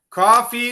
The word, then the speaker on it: coffee: I love it okay coffee is what we drink okay I know that cafe coffee it sounds the same but we say e at the end okay so cough versus